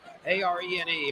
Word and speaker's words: Arene: It's a R E N E pronounced arene.